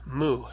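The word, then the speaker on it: μ: And so that helps me remember to pronounce it as an M sound. So don't let yourself get confused. Now an example of a Greek word with mu in it is the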